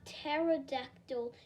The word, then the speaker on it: pterodactyl: Or what about a pterodactyl? I suggested. It said like pterodactyl, explained Dad, like the word began with a T, not a P. The P is silent.